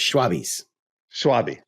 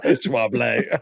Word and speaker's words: Schwalbe: Benoit's like, no, dude, no, it's not Schwalbe. It's not. It's not ours. It's German. It's Schwalbe.